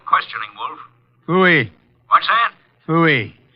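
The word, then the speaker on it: Pfui: Fooey. It can be spelled in several ways. I spell it P-F-U-I. Fooey.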